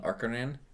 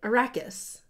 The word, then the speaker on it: Arrakis: There's not an in it. Arrakis. Arrakis! Is that what it is? What time is it on Arrakis right now? But you always put an N in it.